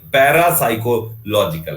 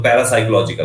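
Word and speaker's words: parapsychological: Psycho में आपका जो P होता है वो साइलेंट होता है, तो PSY, psycho, CHO, psycho, logical, LOGI, logical, साइकोलॉजिकल। तो पैरासाइकोलॉजिकल, पैरासाइकोलॉजिकल मींस होता है लिखा हुआ है यहाँ पे कि परामनोवैज्ञानिक पैरासाइकोलॉजिकल।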